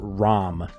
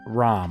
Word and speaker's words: Ram: the memes so no not REM ROM I'm not pronouncing it wrong I mean ROM okay all right back